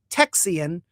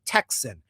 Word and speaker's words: Texian: And you will notice in this presentation I will say Texian not Texan or the reason is it's a lot of the earlier spelling and terminology is Texian. Texan gets shorted from people mis I think mispronouncing Texian and then it became Texan Tahhan.